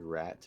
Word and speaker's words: rat: word rat in English, you have the exact same spelling in French, but it's le ra. Yeah. Yes. You have to do the French R and then not pronounce the T, basically.